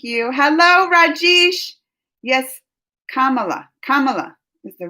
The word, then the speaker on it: Kamala: with all thank you hello rajesh yes kamala kamala is the right pronunciation miss marvel on this channel because that's